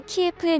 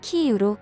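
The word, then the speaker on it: Київ: 것을 볼 수 있습니다 대표적으로 우크라이나 수도 키예프의 명칭을 키 이유로 고쳐달라고 지명 수정을 강력 요청했습니다 이에 한국은 그동안 사용하던 러시아어 발음을 고쳐 키 이유로 정정해 각종 언론보도를 이어오고 있습니다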